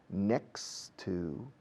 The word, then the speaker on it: next to: Pasamos de la X de next a la T de to.